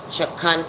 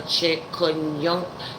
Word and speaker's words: chikungunya: And it's the chikungunya. I didn't have the pronunciation totally correct.